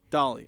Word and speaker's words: Dahl: Dolly, okay. I learned the correct pronunciation, and then I forgot which one was which, and then I was confused.